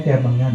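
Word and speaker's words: kimengan: Jadi K I M E N G A N. Ya. Membacanya kemengan ya.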